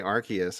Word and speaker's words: Arceus: You can say Arceus, I noticed.